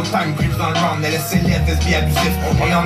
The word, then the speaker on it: LSLF: Alors on a eu droit à Paralysis Lyrical de LSLF, ça se prononce bien comme ça, L.S.L.F.